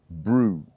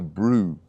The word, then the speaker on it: brew: Brew to wake up pronunciation and it sounds like it sounds like crew Brew just change the C for a b so Brew okay now number five